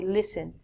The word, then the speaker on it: listen: first word is listen we don't say listen you say listen listen is like hearing